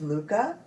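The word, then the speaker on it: lykke: set of needles and I just looked up how to pronounce it and the closest I can probably come is Luca which means Joy or happiness and it's l-y-k-k-e so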